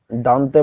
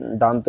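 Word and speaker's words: Dante: তো দেখো, 5 নাম্বার দান্তে বলা, এটা হচ্ছে দান্তে উচ্চারণ হবে দন্তে।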